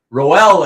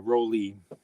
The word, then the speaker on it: Roel: I don't know the German way, but the way we pronounce it now is Roly. Just Roly. Wow. Yeah, Sunday Roly. Like Roly Poly.